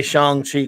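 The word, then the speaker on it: Shang-Chi: to be in in seanchi did i say it right that time steve mentioned he makes me say shang chi correctly because i've always said i used to mention sometimes but it's shang i hope i got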